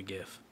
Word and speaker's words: GIF: G and GIF is a hard g a very hard G like sound gangra yeah